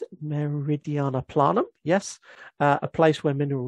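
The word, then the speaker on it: Meridiani Planum: Is that how you pronounce it? Meridiana Planum, yes.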